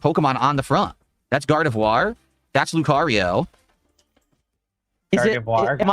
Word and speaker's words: Gardevoir: You see, you got to pronounce it right, Hurtbox. It's Gardevoir.